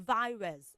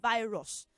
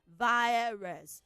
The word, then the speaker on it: virus: And she also told us about virus. It's not virus. Virus. Virus. It has the triphthong I. So virus.